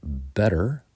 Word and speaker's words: better: good the comparative is better and in American English we're going to pronounce it with a D sound better the superlative is